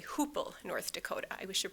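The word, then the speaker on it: Hoople: The family came back to the US in 1924 to Hoopla, Minh North Dakota and then to Fiser, Minnesota. I should say Hoopel, North Dakota.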